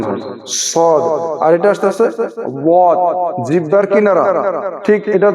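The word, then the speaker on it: صاد: আসে মুখটা অল্প গোল হয় আর মোটা করে উচ্চারণ হয় সদ আর জিহ্বার কিনারা ঠিক এটা ধরেন আছে জিহ্বার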